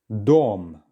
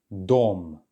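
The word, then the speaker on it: дом: try this yourself excellent Dom and then make sure to get those vowel sounds nice and clear Dom well done this is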